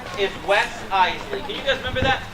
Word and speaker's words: Iseli: It's Iseli. Not Isel, not Iseli. Iseli. 2 syllables, Iseli.